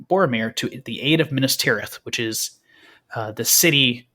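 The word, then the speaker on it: Minas Tirith: Minister.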